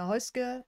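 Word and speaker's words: Häußge: I'm your host hka and this is actually how you pronounce my last name I know many people are surprised that there is no be in there and yeah welcome um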